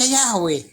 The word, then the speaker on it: Yahweh: Nah iya memang benar ya, dibaca Yahweh.